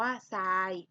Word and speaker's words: ทราย: หลัง เป็น รอ เรือ ให้ ออก เสียง ทร เป็น ส โซ่ นะ คะ ตัว อย่าง คำ นะ คะ เช่น คำ ว่า ซาย อ่าน ว่า ทราย ซับ อ่าน ว่า ทรัพย์